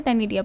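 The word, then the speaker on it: ctenidia: सी इसमें साइलेंट है, टेनिडिया पढ़ते हैं।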